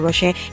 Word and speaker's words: Rocher: ingana mi siya pagbasa no Rocher sa naay T lang silent T Rocher so gikinamot ko na